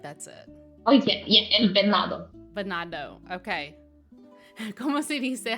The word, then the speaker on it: El Venado: El Vanido? I'm questioning myself, but I feel like that's it. Oh, yeah, El Venado.